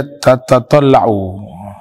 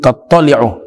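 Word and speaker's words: تطّلع: Pertemuan lalu itu saya baca tatatalla'u. Itu yang betul, tattali'u.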